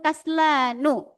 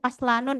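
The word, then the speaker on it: كسلانُ: Nah, di sini mungkin pertanyaan tadi Utirati bacanya kaslanun itu salah. Kenapa? Karena ini nanti di bawah ada ya pembahasannya. Ini termasuk isim yang atau sebuah kata yang tidak boleh memakai tanwin.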